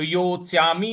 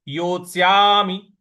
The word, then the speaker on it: योत्स्यामि: योस्या यो के बाद आधा त आधा स य पर आ की मात्रा और म पे छोटी इ की मात्रा है तो योत्स्यामि नहीं बोलना है योत्स्यामि इस प्रकार से बोलेंगे इशुभ प्रति योस्याम पूजावर